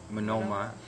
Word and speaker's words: Monoma: Now, Mei's not going to be able to use this because it's specifically for Monoma.